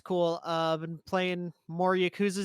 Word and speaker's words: Yakuza: I've been playing more Yakuza 0, hoping to get that finished up.